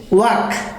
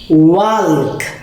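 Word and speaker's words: walk: Working শব্দ, work শব্দটা হচ্ছে দেয়াল, আর এই সাউন্ডটা হচ্ছে প্রনাউন্সিয়েশনটা হচ্ছে ওয়াক, আর স্যার উচ্চারণ করছিল ওয়াল্ক।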